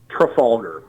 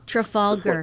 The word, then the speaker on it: Trafalgar: Trafalgar. Trafalgar. Just like the big square in the center of London.